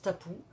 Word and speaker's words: tapu: c'est cryptée a pu ça se prononce tabou et ça a donné